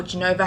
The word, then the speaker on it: Genova: So today we were in Genoa, or Genova, however you prefer to pronounce it.